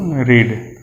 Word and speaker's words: read: तो spelling same होगा, spelling same होता है READ, लेकिन इसका उच्चारण किया जाता है रेड।